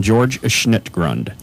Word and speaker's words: George Schnittgrund: I'm George Schnittgrund.